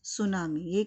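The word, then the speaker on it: tsunami: they are called सुनामी pronounce सुनामी ही नाम से pronounce करेंगे ये तो हमने बहुत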